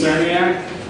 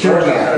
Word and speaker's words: Cerniak: Cerniak? Right. It's Cherniak, if you want to say it right.